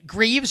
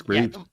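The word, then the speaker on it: Greaves: If Greavves or Graves is how you pronounce his last name, the Columbus goalie. Oh, Jack Greavves. Yeah, I think it's Greavves. Yeah, it's Greavves. That's how it's spelled.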